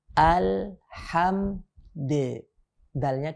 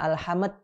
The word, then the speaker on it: Alhamdulillah: membaca yang seperti ini kita sukunkan mimnya kemudian dalilnya kita qolqolahkan karena dalam kondisi sukun tidak dapat kita bacanya alhamed jadi mantul kemudian dalilnya mana qalqalahnya tidak dapat yang benar Alhamdulillah kita kita pantulkan